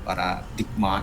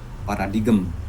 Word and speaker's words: paradigm: Ya, menyebut paradigma itu paradigem, ada paradigm ya, ingat namanya ya, cara membacanya.